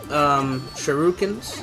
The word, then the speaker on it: shuriken: And the sword is pretty good for deflecting shurikens.